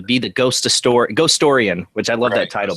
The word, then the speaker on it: Ghostorian: the ghost of sto ghost storian which I love that title by the way am I saying it right ghost storian is that how you